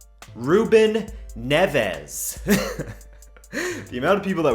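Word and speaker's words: Neves: all you Anglophones that don't like my Portuguese pronunciation Rueben NEFAs the amount of people that were telling me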